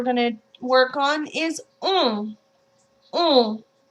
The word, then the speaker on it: on: That one's very closed, but it's very much in the nose. Okay? In English, pronounce the word on, which actually is a nasal vowel as well. However, we pronounce the N. You see the difference there? Keep the same shape in your mouth and purse your lips as if you're looking at fireworks and you're saying ooh, ooh.